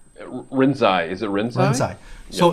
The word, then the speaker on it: Rinzai: The last one being Soto, and the first one, I believe, you know how to pronounce it. What's the first one? Ranzan? Rinzai.